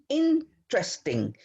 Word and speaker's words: interesting: The stress is at the beginning. Interesting.